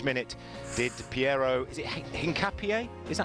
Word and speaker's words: Hincapié: In which minute did Piero, is it Hincapié? Is that how you pronounce it? Yeah, Hincapié.